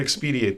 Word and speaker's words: expedite: We're going to expedite this. Expedite. Expedite? Expedite. Expediate's not a word? I've been using that for a long time. It's the word, but you're pronouncing it wrong.